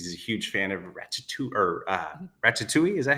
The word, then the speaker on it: Ratatouille: Eddie recognizes him and because he's a huge fan of Ratchetu or uh Ratchetoule. Is that how you say it? Yeah, Ratatouille.